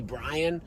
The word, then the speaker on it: Brien: a kid my name is spell Bri and that's supposed to be Brian which by the way no one else in the world thinks that's Brian except my parents so